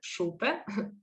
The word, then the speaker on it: Šupe: name is and like anna said supe so she pronounced it well i was born at